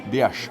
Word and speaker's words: Dias: Dias, great pronunciation. Thank you, thanks so much. Excellent. Portuguese there.